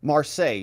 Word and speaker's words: Marseille: Marseille is how you say it.